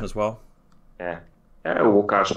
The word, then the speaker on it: Łukasz: Łukasz, but it's Lucas is fine.